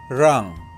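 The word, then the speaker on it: 让: is written in traditional in Mandarin both of these should be pronounced as rang rang in Cantonese the simplified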